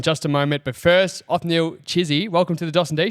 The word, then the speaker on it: Othniel Chisi: But first, Ofnil Chizy, welcome to the Dawson and Ilay show.